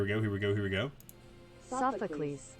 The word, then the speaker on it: Sophocles: bit here I'm actually I cannot figure out how to pronounce this name I've seen this name so many times too um in like Pokemon Masters and just so many different things um how to pronounce and I know it's like based off of a uh like an an old like Greek here we go here